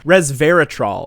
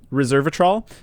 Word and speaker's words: resveratrol: okay we'll pause but reserve a troll or i saw one article spell it reservatroll and i was like huh that looks different and it's resveratrol that's about it okay go